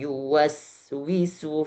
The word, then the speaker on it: يوسوس: berharokat ya dan waw, di sini biasanya kebanyakan ada orang yang mentasydidkan waw atau ada yang ya-nya tidak jelas dibaca. Maka lebih dijelaskan lagi alladzi yuwas, juga enggak yuwas enggak ada tasydid, tapi juga enggak yuwas enggak jelas ya-nya. Maka harus diperjelas lagi alladzi yuwaswisu fi sudurin nas.